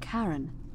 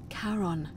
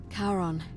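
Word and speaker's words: Charon: coin just as you described it only your pronunciation is a little off the name you heard wasn't Karen it was c h a r o n as in Caron the ferryman of the Dead karon who in exchange for the right coin helps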